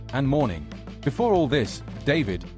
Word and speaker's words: D4vd: Before all this, David, pronounced D4vd, had been hailed as one of Gen Z's brightest alt-pop rising stars.